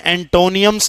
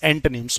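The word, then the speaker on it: antonyms: यहां भी एंटोनियम्स नहीं है। इट्स एंटिम्स। ओ को साइलेंट ही रखिएगा।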